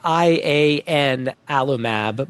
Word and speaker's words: ianalumab: Yeah, so this is it's spelled like IAN alumab, but it's actually pronounced ianalumab, named after the god